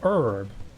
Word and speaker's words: herb: refreshing herb or or herb as as you'd say in America cuz you don't pronounce the h for some reason I never got that we say herb you know we we